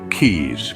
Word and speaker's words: quays: or lake now let's look at keys pronounced Keys these are structures built